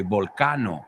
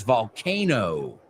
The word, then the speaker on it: volcano: I've heard a lot of my students say volcano, right? Volcan. In English, it's volcano.